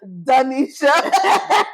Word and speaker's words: Donisha: My girl said, that's not how you say my name. It's Donisha.